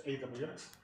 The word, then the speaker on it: AWX: Ansible AWX, by the way, that is the way it's pronounced. It's not AUX, it's AWX, is the what is officially called the upstream